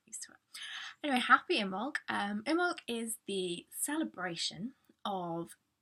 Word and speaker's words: Imbolg: Now, pronunciation of Imbolg is Imbolg. You don't talk about the B.